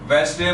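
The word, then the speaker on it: Wednesday: वेडनेसडे में D silent है, सो हर वेडनेसडे को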